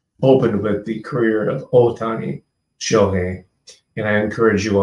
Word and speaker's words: Ohtani: encourage you all to pronounce his name correctly as Ohtani, which means literally, means big or big valley. Tani is valley, O is big or major. So it's Ohtani Shohei instead of Ohtani, because then you're talking